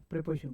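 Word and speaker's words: preposition: चलिए देखते हैं इसे हम लोग पढ़ेंगे क्या साहब, प्रीपोजिशन या प्रेपोजिशन, इसे हम लोग पढ़ेंगे। इसकी जो प्रोनाउंसिएशन होगी साहब वो प्रीपोजिशन होगी, प्रीपोजिशन नहीं बोलने का, प्रेपोजिशन। तो प्रेपोजिशन बोलेंगे, दो शब्दों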